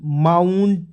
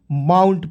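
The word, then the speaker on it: mount: डी वाउंड ठीक है एम ओ यू एनटी माउंट क्या पढ़ेंगे दोस्तों माउंट पढ़ेंगे अब आइए रूल नंबर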